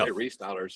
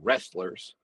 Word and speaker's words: Restylers: We say restylers. They don't. It's like, in fact, if you Google it, it takes you to SEMA's website. For years, we c we got called wrestlers.